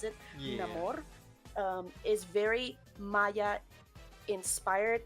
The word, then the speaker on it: Namor: pronounce it that way because that's how he pronounces it, Namor, um is very Maya inspired.